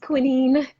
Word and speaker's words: quinine: Yes, it's pronounced quinine. Who knew?